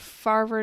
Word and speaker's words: Favre: Andy he says Brett Favre yeah how how do you pronounce it and he says dasovic is pretty good at farver noogans okay so apparently